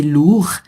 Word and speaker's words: lourd: Donc l'ordinateur, il est lourd. C'est lourd. Là, on prononce pas le D, tu vois, masculin.